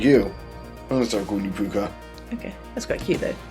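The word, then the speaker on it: púca: So, this one is I'm pretty sure it's pronounced the puka.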